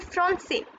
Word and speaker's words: français: So cedille produces a sound s. So this is garçon and français.